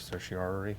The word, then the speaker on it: certiorari: Everybody, there's a whole debate of how you pronounce this word, writ of certiorari. That's how I say it, but a cert,